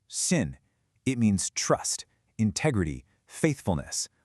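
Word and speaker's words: 信: This character sin pronounced sin.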